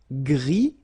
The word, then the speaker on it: gris: Okay, Gris, don't pronounce the S, but then for the feminine form, grise.